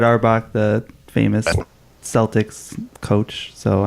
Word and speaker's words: Auerbach: I know this area or bum because it's pronounced uh Auerbach I'm firing famous Broadway star as well look